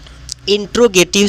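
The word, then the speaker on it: interrogative: अफरमेटिव sentence इसका उच्चारण है। और एक है नेगेटिव। ने नेगेटिव सेंटेंस और थर्ड पे आता है हमारा इंटेरोगेटिव sentence I एन टी आर O intro ji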